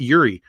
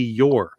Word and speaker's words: Eure: i'm pronouncing it wrong it's not yuri i've always pronounced it yuri it's your wesley yore oh so i have to